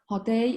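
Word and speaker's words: Hotei: Hao Dai is a Japanese pronunciation. In Chinese, it is called Bu Dai.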